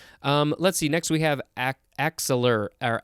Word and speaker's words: axillar: Next we have axillar or axillar. The emphasis is on the second syllable.